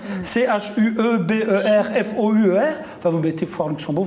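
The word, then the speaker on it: Schueberfouer: Alors Schubert-Foire, ça s'écrit comme ça se prononce, hein. Chuberfour.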